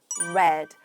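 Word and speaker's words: read: 일따의 과거는 red. 맞아요. 스펠링은 같지만 발음은 이런 느낌으로 마치 빨간 색깔 같은 발음입니다.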